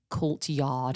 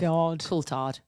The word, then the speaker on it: Coulthard: So we know somebody who does a bit of like F1 driving, and obviously we mentioned David Coulthard.